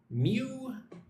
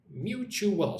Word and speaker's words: mutual: Mutual. Mutual. So 3 syllables. Mutual.